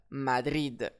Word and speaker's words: Madrid: Ici, mon mot se termine par un D. Il n'est pas parti ni du S. J'accentue donc sur la dernière syllabe Madrid.